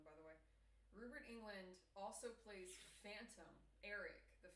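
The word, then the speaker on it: Robert Englund: So Rubert England and it's pronounced Rubert England by the way. Rubert England also plays Phantom Eric the Phantom Phantom of the Opera in Phanto.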